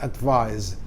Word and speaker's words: advise: S ya artinya menasihati kalau s-nya diganti c artinya nasihat kata benda bacanya kalau yang pakai C Itu advice pakai bunyi S Tapi kalau pakai S kata kerja menasihati advice bacanya pakai Z ya advise jadi we SH advise